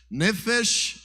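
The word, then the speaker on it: נפש: significa a palavra nefes nefes é a pronúncia Hebraica para a palavra alma diz assim comigo nefes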